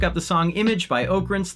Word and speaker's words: Oakrince: the song Image by Oakrince, that's pronounced Oak Rinse, wherever you get your music.